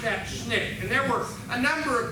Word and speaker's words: SNCC: All right, they pronounced that SNCC.